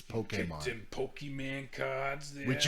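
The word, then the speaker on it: Pokémon: I have the accent over the E. Yeah, so you can say it correctly, so it's not Pokemon. Yeah, you Pokemans. It's Pokemon.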